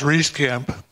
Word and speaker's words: Reiskamp: Charlie, that's pronounced Reiskamp.